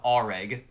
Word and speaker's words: Areg: alive so it's a it's pronounced reg already yeah all right